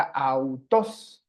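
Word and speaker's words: αὐτός: forman el diptongo alfa ypsilon y que se pronuncia au, au, ¿ok? Au, por ejemplo, en la palabra autos, autos.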